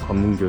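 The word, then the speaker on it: 関門橋: The name over there is Gwanmungyo Bridge. The Japanese pronunciation is Kanmungyo, and although it is a port city, it is just a bit quieter than I thought.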